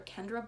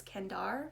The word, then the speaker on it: Kendare: I think I called her Kendra Blake before, but I think it's how you pronounce her name is Kendare or Kendare Blake.